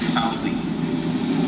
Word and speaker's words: Fauzi: Don't mind him, Fuzzy. He's just like that. It's Fauzi. Yeah, I know. Fuzzy. Like the bear.